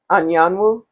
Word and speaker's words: Anyanwu: Anyanu you? Yeah, that's correct. Give us Wahili. So, okay. It's actually Igbo, but yeah, Anyanu.